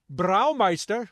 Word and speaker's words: Braumeister: He is the owner and Braumeister.